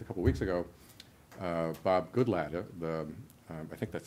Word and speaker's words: Goodlatte: U I'm just Jing of course I could pronounce it and then you would know what it was yeah right exactly right goodlatte anyway uh Bob goodlatte uh he's a republican